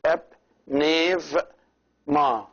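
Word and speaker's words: ⲡⲛⲉⲩⲙⲁ: This, as we know, the e is pronounced a, so it is ep, nev, ma. The epsilon is pronounced v if it is preceded by the e, or in other words, with the alpha.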